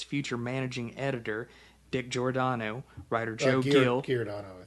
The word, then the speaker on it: Giordano: It's pronounced, I've got it spelled phonetically as Giordano.